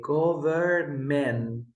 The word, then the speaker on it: government: we say autumn um or in this word we never say go very man now we say government men I never pronounce the M sound here Carlos and why because we never say that sound in this word and you just need